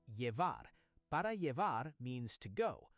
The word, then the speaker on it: llevar: If you want to take it with you, say "para llevar". "Llevar" is pronounced "yevar".